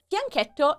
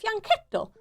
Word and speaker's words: fianchetto: Fianchetto is pronounced fianchetto. Oh, not fianchetto. Just that you know. Yeah. It's an Italian word, and the ch is k is strong.